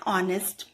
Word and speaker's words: honest: getting r sound and honest man h is silent here and we are getting o sound and o is a